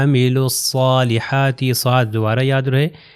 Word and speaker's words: عملوا الصالحات: آپ اس کے اندر عملوا میں واو اور الف نہیں پڑھا جائے گا، الصالحات میں جو ہے الف اور لام نہیں پڑھا جائے گا، تو یہ ہو جائے گا عملوا الصالحات، یہ صاد دوبارہ یاد